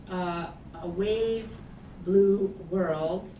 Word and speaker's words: A Wave Blue World: From 2003 to 2006, and then co-founding A Wave Blue World, which I have to say slowly because otherwise you accidentally say A Brave New World, which I think it's deliberately a play on, right?